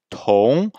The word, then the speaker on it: 同: Alors au niveau de la prononciation, Tong, le T est une consonne aspirée.